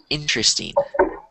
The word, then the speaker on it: interesting: So, the word is spelled like interesting, but the way that I've always pronounced it, I don't know, maybe I'm pronouncing it incorrectly, but most people say interesting. And it's kind of like the R and the E are switched.